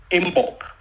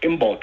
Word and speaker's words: Imbolc: So the midwinter holiday or holy day in the Druidic, Gaelic, Scottish, Celtic tradition is called Imbolc. That's the midwinter holiday. Imbolc. It's spelled IMBOLC.